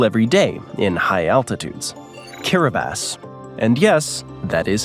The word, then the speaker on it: Kiribati: Kiribati. And yes, that is how it's pronounced.